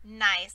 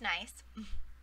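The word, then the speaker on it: gneiss: is a tricky word it is pronounced nice like oh nice to meet you right it's pronounced nice so granite when it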